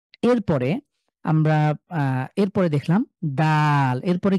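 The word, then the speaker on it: دال: আমরা পেয়ে গিয়েছি এরপরে আমরা এরপরে পরে দেখলাম দাল এরপরে কি এটা দাল দয় আকারে দা ল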